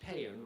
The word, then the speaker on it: pan: The Indo-Uropean root of patior is a word pronounced pan which we would spell p a n which is also the root of the word compassion.